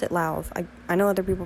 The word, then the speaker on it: Lauv: I pronounce it Lauv.